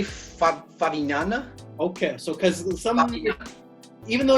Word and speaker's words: Favignana: Is that how you pronounce it, Vitor? I will say Favignana.